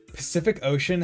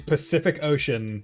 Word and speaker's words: Pacific Ocean: pronounced differently like the the phrase Pacific Ocean has the letter C in it and each C is pronounced differently because once again you get the s c the KC and then you have the s HC because it's because it's followed by a ea which I guess makes it an an sh sound sometimes fuck off actually